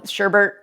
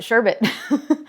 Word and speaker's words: sherbet: And you might know that, Sherbert is not spelled with 2 R's. It's spelled with only 1, and you pronounce it Sherbet.